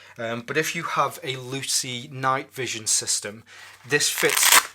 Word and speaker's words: Luci: you have a Luci which I believe it's pronounced Lucy its spell el you see I II I'm sure that probably stands for something but if you have a Lucy night vision system this